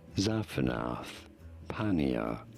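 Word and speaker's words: Zaphenath-Paneah: Zaphanath Paneah.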